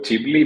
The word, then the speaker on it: Ghibli: सो जिबली basically पहले Japanese animation studio हुआ करते थे तो उससे इंस्पायर्ड होके ये हुआ। इटली में जिबली कहते हैं। अमेरिकन गिबली प्रोनाउंस करते हैं इसको।